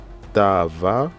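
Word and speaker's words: תאוה: Ta a va, donc le H ici ça ne se lit pas, parce qu'on a, c'est le H en fin de mot en général, il ne se lit pas.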